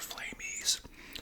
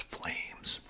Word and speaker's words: Flamez: Is it Flames or Flame E? Turns out it's Flames spelled with a, you know, a Z on the end.